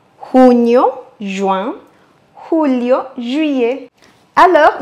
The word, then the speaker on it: julio: Julio, juillet. Alors, n'oubliez pas d'accentuer sur le U.